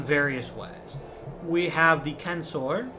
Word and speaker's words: censor: We have the censor. Remember, in Latin, the C is always hard. There is no soft C in Latin.